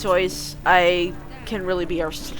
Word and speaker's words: Seuss: Seuss. Yes, I know it's pronounced Sois.